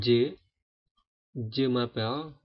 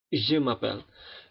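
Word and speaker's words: je m'appelle: kalau dalam bahasa Indonesia kita mengatakan je je mapel harusnya Z mapel Z mapel awal nama saya awal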